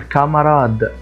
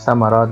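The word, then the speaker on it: camarade: حرف الاش فبقول كلاس بقول كامراد كامراد كامراد يعني زميل فليه ما قلتهاش في سمراد لان برضو نفس القصه ان الحرف الواقع بعد حرف السي ليس حرف من الحروف الثلاثه او سداي عليه او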